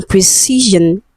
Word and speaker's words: precision: Option D, we have precision. Okay, so letter S in precision is voiced. Okay, Z.